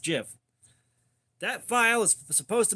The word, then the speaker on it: GIF: whole people don't understand it's supposed to be pronounced GIF that file is supposed to be pronounced GIF and it always has been and you